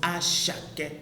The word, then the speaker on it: Asake: It's spelled Asake, but it is pronounced Ashake.